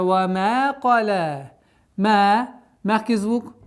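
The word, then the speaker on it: قَلَى: Вама, кала, каф твердый, ля мягкий звук, но при остановке у нас аннулируется огласовка ляма, но удлинение остается.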